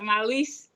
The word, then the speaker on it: Mallese: Mallese.